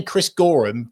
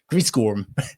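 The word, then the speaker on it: Chris Goreham: this week is um if you if you don't know how to say his name, just say Chris Gorum quickly. Chris Gorum. Okay, just say that and then you'll get it.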